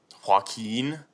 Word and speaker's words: Joaquin: I can't pronounce the first name. Joaquin, is it?